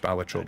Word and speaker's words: Balatro: about astrobot on PS5 balatro it's pronounced batro by the way um